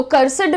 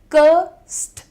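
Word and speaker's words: cursed: तो कर्सिड नहीं होता है वो। और इस तरीके से बहुत सारे लोग एड को बहुत स्ट्रांग प्रोनाउंस करते हैं। प्रोनाउंसिएशन सुनिएगा। कर्स करस्ट। एस और डी को ब्लेंड कर रहे हो आप यहां पर। कर्स एस और डी को आपने ब्लेंड करना है।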